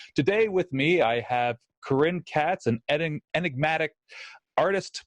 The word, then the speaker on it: Keren: it's just I mean the majority of people call me Karen but in White River Junction everybody cozy Chris I think I just allow anyone to pronounce it however they want because in because in Hebrew it it sounds so different anyway and even I can